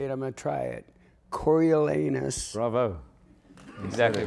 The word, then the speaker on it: Coriolanus: terrified to say it I'm gonna try it Cory elanus Bravo exactly right and it's not hard to pronounce The Invisible Woman which is a really